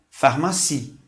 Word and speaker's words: pharmacie: E para finalizar, a palavra pharmacie. Observe que o PH, novamente, tem um som de F.